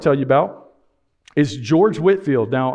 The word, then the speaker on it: Whitefield: you about is george whitfield now i know his name says whitefield but it's pronounced whitfield and he was a minister from britain he played a major role in the great awakening whitfield toured the colonies up